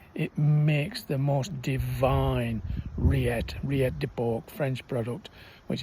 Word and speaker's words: rillette: Remember, it's not a pate, it's a rillette. At R-I-L-L-E-T-T-E, rillette. Of course, for those who may not know in French, anything with a double L, you drop the pronunciation, so and then it then becomes rillette.